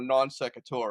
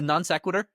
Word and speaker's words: non sequitur: actually said, is it non sequitur? So totally blew up your podcast. Sorry. Now I'm wondering. Is it a non sequitur? Non sequitur, that's how you say it, Non yeah.